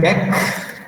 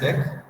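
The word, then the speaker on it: deque: Now double ended क्यू, इसको pronounce करते हैं डेक। ठीक है, this is pronounced as डेक।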